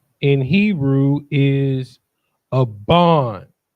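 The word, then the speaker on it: אבן: And then you have a buh and a nuh. So it's not but nuh, right?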